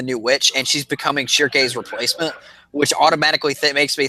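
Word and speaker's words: Schierke: Shirkei. Because I've heard it pronounced just Shirk, not with the Ke, just Shirk.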